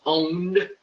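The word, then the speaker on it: pwned: to have i been it's pronounced owned but it's a p long story you can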